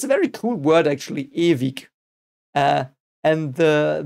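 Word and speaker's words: ewig: very cool word actually evik uh and the the W is by the way in German it's pronounced V so a bit like a V but bit less um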